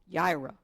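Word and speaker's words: יראה: The second form of fear is is Ira. It's y I r ah but it's pronounced yra.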